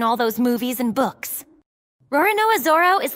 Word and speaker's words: Roronoa: because Japanese pronunciation didn't have an L, it becomes an R Before Zoro from One